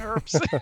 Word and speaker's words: herbs: Yeah, I have like a friend from England who like really hates it when you don't pronounce the H in herbs.